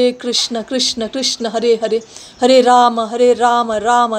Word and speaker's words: Krishna: Don't say Krishna like most of us say Krishna. It's not Krishna, it's Krishna. Krishna, we write it as Krishna.